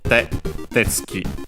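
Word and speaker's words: てつき: So, tetsuki on its own is accented on the first syllable tetsuki.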